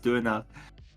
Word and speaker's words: döner: Donor? The proper way to pronounce it is Döner. Donor.